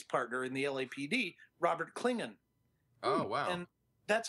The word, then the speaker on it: Klingon: Klingon is actually how Roddenberry wanted it pronounced. People kept saying, elongating the A and saying Klingons, and that just stuck after a while.